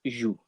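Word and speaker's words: jouent: group of just girls, you add ENT to the end, but we actually pronounce it joue. Okay, so it's just the same as je, tu, il, elle.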